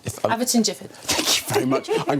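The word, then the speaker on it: Aveton Gifford: Eafton Gifford. Averton Gifford. Thank you very much. I'm glad you're here to pronounce things for me, which is near Ashford.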